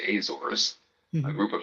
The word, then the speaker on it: Azores: Americans say Azores, a group of 9 islands in the middle of the Atlantic Ocean.